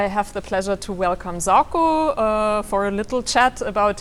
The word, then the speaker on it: Zarko: I'm Zarko, or the Serbian pronunciation is Zarko, a little bit nicer maybe, but people are always struggling with that.